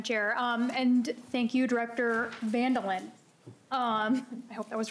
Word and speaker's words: Van Dillen: It's pronounced like mandolin, but with a V handle it the actual Dutch pronunciation is fond of Linda. Okay.